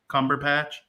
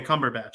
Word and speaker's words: Cumberbatch: how you say his name as dr strange cumberpatch oh okay cumberbatch okay i love that guy love him i